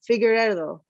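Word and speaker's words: Figueiredo: Oh, Figueredo, Davison.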